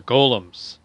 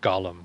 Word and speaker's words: golem: call them iron golems they're golems not gollum golem is from the lord of the rings golems are men made